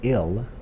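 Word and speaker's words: 일: This word pronounced ill means work.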